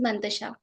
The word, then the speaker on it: Mantasha: Like I don't really know how to pronounce it. Uh, my name is Mantasha.